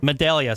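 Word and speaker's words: Medaglia: think some Adele yeah Medallia sorry my Delia but I'm pronouncing the G and I'm not supposed to Medallia or oh that's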